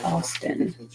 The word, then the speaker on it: Augustine: masterpieces and today's St Augustine the First bishop of canary often pronoun pronounced in England as Austin according to Austine the